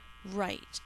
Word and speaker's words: rite: Rite, as in a customary ceremonial practice. We celebrated a traditional rite of passage. Rite. This is going to use the silent E to make the I say I.